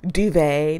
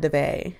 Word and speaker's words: duvet: someone to be like that's the way it's pronounced uh duvet not debate you know like something like that like it's